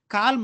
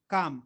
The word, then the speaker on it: calm: Sir, L is present na, you are not pronouncing it. L is silent here. Calm nai, calm, understanding it.